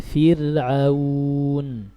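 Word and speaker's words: فِرْعَوْن: Jadi biasa aja bacanya Fir'aun.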